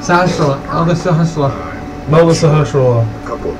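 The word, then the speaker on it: Sahasrahla: They severely mispronounced, oh, look, it's Sahashwala. Slashihara. Sahashwala. Elder Sahashwala.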